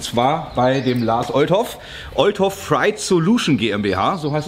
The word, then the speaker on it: Oldhoff: So Leute, ich bin angekommen bei Step 2 und zwar bei dem Lars Oldhoff, Oldhoff Freight Solution GmbH, so heißt es richtig ausgesprochen.